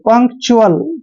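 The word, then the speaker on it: punctual: का उच्चारण कै करेंगे, TUAL को च्युअल पढ़ेंगे, च्युअल। ऐसे पंक्चुअल क्या हो गया, पंक्चुअल।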